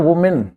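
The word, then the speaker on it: women: एक औरत का जो उच्चारण है वो है वुमेन, वुमेन, ठीक है। ज्यादा होंगे तो विमेन, इनका उच्चारण ये है, इनमें एस नहीं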